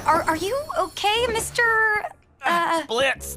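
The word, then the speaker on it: Blitzø: Blitz. The O is silent.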